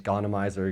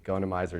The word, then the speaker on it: Gonymizer: built at Smith Rx called the gonna Mizer I've heard other names gana miser go knee miser a whole bunch of different ways you can pronounce it doesn't matter to me going to miser is usually what I call it so this is